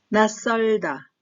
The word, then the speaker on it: 낯설다: 창피하다, 창피하다, 비우다, 비우다, 낯설다, 낯설다. 마찬가지로 나의 치읓은 디귿 소리가 납니다. 또한 이 디귿은 뒤에 나오는 시옷과 자음과 자음이 만나면서 설이 뒷소리가 된 소리가 납니다. 그래서 낯설다, 낯설다 이렇게 소리를 내야 자연스럽습니다. 어색하다, 어색하다, 하다인데 카다 소리가 살짝 나죠?